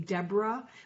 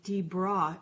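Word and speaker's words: Debra: am it was scandalous the boys were taking my name deborah which is spelled d-e-b-r-a and saying d-bra and it was scandalous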